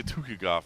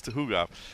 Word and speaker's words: Tukhugov: I always say Tukhugov. It's Tuhugov.